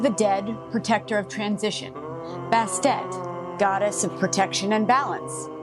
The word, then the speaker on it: Bastet: Before we lift, some pronunciations. It's Mikolo, Anubis, Bastet, and Djed.